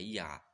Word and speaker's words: Yah: E esse Yod-He, na verdade, no hebraico, a primeira pronúncia dessas duas letras é Yah. Muitos chamam até de Yahvé e tal. É Yah, certo?